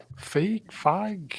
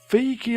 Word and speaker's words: Feige: Feige like beige.